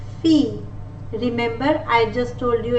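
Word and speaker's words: fille: In the word it is pronounced as F, fee. Remember, I just told you at the previous slide that I-L-L-E will not be pronounced as feel, rather it will be pronounced as I-E, which is fee.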